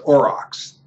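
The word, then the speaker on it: aurochs: spelled a r o c HS but is pronounced orox and the animal lived in an area now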